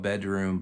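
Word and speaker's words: bdrmm: Um it's the band is called Bedroom, but they spell it B D RMM in all lowercase. That's how they spell it, but it's you know, you just call them bedroom.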